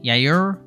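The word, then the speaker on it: Yajure: need to the talent is there uh Miguel yair this is how you say that he was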